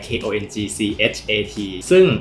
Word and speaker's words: Kongchat: erm, my name is Kongchat (Thai and English have different pronunciations).